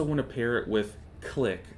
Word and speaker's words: Clique: to pair it with click click is another add-on it is spelled like CLI q-u-e and what that does